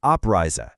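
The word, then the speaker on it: Abreise: Let's get the pronunciation right. Anrisa and oprisa.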